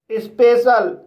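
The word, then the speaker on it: special: होता है सामाजिक स्पेशल इस वर्ड में एस को आधा सा पढ़ेंगे प को प पढ़ेंगे ई को ए पढ़ेंगे और सी को श पढ़ेंगे और आई ए साइलेंट रहेगा एल को ला पढ़ेंगे इस तरह से इसे स्पेशल पढ़ेंगे और स्पेशल का मतलब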